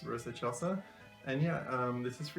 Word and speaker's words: Rosa Excelsa: And yeah, it's pronounced Rosa Excelsa. Yeah, I thought it was Rosa Excelsa, it's Rosa Excelsa.